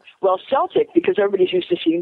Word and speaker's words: Celtic: Tell us about your Celtic studies that you teach at Enchanted Earth. Well, it's Celt. There is no soft C in Gaelic. Oh, what did I say? Did I? Well, Celtic, because everybody's used to